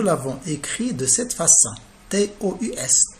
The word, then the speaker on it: tous: T-O-U-S, tout. Tous, il se lit tous dans cette phrase.